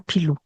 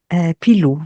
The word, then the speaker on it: Pilù: Non so, sembra una gattina che si chiama Pilù. O U finale. Pilù, proprio con la U e U. l'accento sulla U.